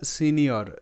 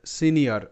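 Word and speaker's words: senior: আমরা দেখি এই যে এস ই এন আই ও আর এটা সিনিয়র সিনিয়র ওকে এটা কিন্তু আলাদা ধরনের সাউন্ড এখানে আই ও এর আলাদা সাউন্ড পাশাপাশি আরেকটা শব্দ যদি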